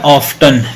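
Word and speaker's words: often: ग आ देखो ये वर्ड है ऑफ्टन बिल्कुल सही है ऑफ्टन लेकिन जब बड़े हो जाएंगे तो फिर पढ़ेंगे ऑन टी साइलेंस कर देंगे इसको टी पे साइलेंसर लगा देंगे टी पे क्या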